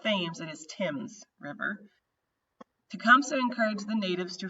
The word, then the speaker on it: Thames: Before the Battle of Thames, and that is how you pronounce that, is not Thames, it is Thames River, Tecumseh encouraged the natives to form a confederation with the United States.